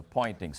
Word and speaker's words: Poynting: But if you now define a vector S, it's called the Poynting's vector, but spelled with a P, to be E cross B over mu 0, the magnitude of that vector is precisely the intensity.